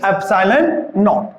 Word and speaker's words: epsilon naught: इसको किस तरह के प्रोनाउंसिएशन करते हैं, देखिए एप्सिलॉन not. Okay, GNAWT, this is epsilon naught.